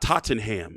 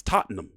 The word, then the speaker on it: Tottenham: to happen in September in uh it's not Tottenham, it's not Tottenham, it's Tottenham, right? That's how you pronounce it. Tottenham.